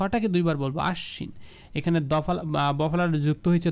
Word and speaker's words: আশ্বিন: দুইবার উচ্চারণ হবে হ্যাঁ এটাকে আমরা বলব আশ্বিন নট আসিন আশ্বিন বা আশবিনও বলা যাবে না হ্যাঁ যদি এটা শব্দের শুরুতে হইতো তখন বফালাটা উচ্চারণ হইতো না যেহেতু এটা মাঝখানে বা শেষের মধ্যে রয়েছে এবং এখানে এই বফালাটা যুক্ত হলে এটাকে আমরা দুইবার উচ্চারণ করব বলবো আশ্বিন অশ্ব বিশ্ব নট বিশ্ব বিদ্যান বানও